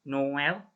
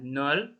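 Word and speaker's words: Noël: Yang berikutnya ini Noel ya. Noel bukan nol atau nol ya. O sama E-nya itu dibaca jelas. Noel, Noel.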